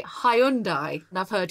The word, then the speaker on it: Hyundai: important in the uk most people would say hyundai and i've heard hyundai what is the right pronunciation because obviously it's a korean word the korean pronunciation is hyundai sunday it has a good meaning doesn't it